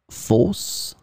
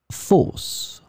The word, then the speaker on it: fosse: In this lesson, we will see together two words that are written differently but pronounced the same way. Fosse, fosse.